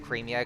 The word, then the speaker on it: Cremia: come from I me some people pronounce it cremia cuz you know it kind of sounds like cream and then there's a